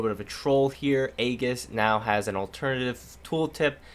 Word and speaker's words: Aegis: pronounced the item and I believe I just pronounced it wrong so maybe this is actually relevant I think I've been told that the correct way to say it is Aegis but we'll find out